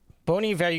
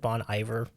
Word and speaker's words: Bon Iver: get to have also bony value if you pronounced it correctly I used to pronounce it Bon Iver didn't we all oh